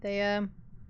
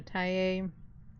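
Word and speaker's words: Thaye: If it'll hunt I'm still leading pretty heavily towards a thea or a tay, however you prefer to pronounce it over um an oumbo is because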